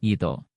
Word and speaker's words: Ito: 4 huruf itu, diucapkan dalam bunyi Romawi, harus dilafalkan sebagai Ito.